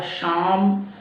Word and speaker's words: Psalm: और दोनों side effect होता है बच्चों इसका उच्चारण होता है शाम फाइव शाम का मतलब होता है ए ए